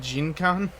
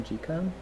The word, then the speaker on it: Jikan: she did Jinkan? Yes. Jinkan? What? Kodomo no Jikan? Yeah. Yeah. Yeah. Why did you call it Jinkan?